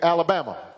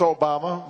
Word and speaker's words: Obama: Except people didn't always say it right. And they'd call me Alabama. Or they'd call me Yo Mama. And I'd have to explain, no, it's Obama.